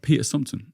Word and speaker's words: Peter Sumpton: And today I've got Peter Sumpton. Am I pronouncing that right?